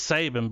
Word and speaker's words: Saban: Saban, dude, it's fucking Saban, dude. It's spelled just like Nick Saban. It's Saban, bro.